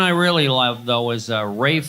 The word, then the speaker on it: Ralph: But Rafe Fine is spelled, I'll take the fine, you know, F-I-E-N-E-E-S, you know, the fancy French, leave out the... But the Rafe, when it's spelled Ralph, I mean, come on.